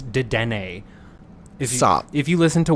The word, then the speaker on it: Dedenne: By the way, it's Dedenne. Stop. If you listen to Where the Big Boys Game podcast with I Valerie mispronounced a Pokemon, but Andrew, you mispronounce things all the time.